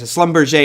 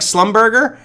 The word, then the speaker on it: Schlumberger: Here is Schlumberger, which we were having fun with yesterday, but yes, Schlumberger is the appropriate pronunciation. It just, if you read it like Slumburger, it just sounds weird.